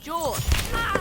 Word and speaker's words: Jorge: My name's pronounced Jaw.